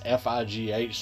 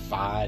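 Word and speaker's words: Figh: The book was written by Catherine Tucker Wyndham and Margaret Gillis Fye, and that's F-I-G-H, so I'm assuming that's pronounced Fye, not Fig or Figa, you know.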